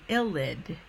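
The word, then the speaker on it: ylide: a very important intermediate called an L lid okay so LLL did okay it's how it's pronounced any way that I've heard it and so this illud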